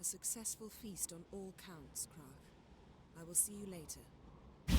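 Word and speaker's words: Crach: Right, I'm gonna try and pronounce this guy's name again. Krach. Krach? Krach.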